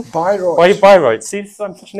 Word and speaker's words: Bayreuth: And he's also been to Bayreuth, is that the right pronunciation? Bayreuth.